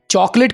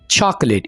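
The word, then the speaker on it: chocolate: चॉकलेट को आप English में क्या बोलेंगे? चॉकलेट। प्रोनाउंसिएशन गौर से सुन लें, चॉकलेट, इसको आपने चॉकोलेट नहीं बोलना, चॉकलेट।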